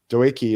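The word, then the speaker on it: Doekhi: Doeki is the way I like to pronounce the Dutchman's name. Yeah, some people pronounce it Dookie, which in a American slang just doesn't work.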